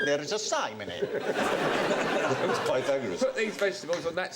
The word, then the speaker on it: Pythagoras: do the pagor and are we going to do Peter gorus go shut up FR Peter gorus years later I discovered he meant Pythagoras he used to pronounce